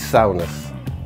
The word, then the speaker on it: Souness: Have I said that wrong? Depends who you ask. In Middlesbrough, he's Souness. And you can take any other pronunciation and stick it.